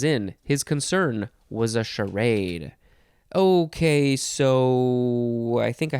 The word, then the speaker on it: charade: charactery i guess and our last word is charade although some people like to say sherrod but i shall say charade c-h-a-r-a-d-e noun from 1776